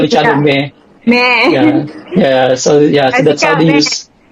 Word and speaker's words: Mhie: some now like they call me Meh, like yeah, like like it comes from the word mommy, mommy, but yeah, so they shortcut it to me, like but it's spelled as MHIE.